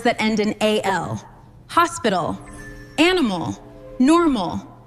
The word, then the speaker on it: animal: You just had to shift the musical stress of your voice to the final syllable.